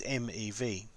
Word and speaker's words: MeV: 1 million electron volts, written and pronounced as MeV.